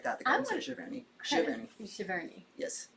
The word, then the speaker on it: Giverny: Giverny. Yes. I have it with a hard G for some reason. I know it's not right, but it somewhere a Frenchman screamed.